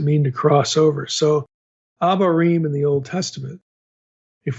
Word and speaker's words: abarim: So, abarim in the Old Testament, if we looked it up in Hebrew, it it's actually spelled with an O, an ovarim.